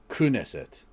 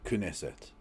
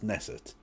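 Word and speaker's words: Knesset: Kessa is pronounced Kesset. Kunesset. Okay. Kuneset. Well, to be fair, Tom Isaac's, I did specifically ask my chat how to pronounce it, and they told me it was Nesset, but if it's Kesset,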